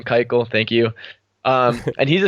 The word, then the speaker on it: Keuchel: Former Astro Keuchel, Dallas Keuchel, or however you pronounce his name. Keuchel, thank you.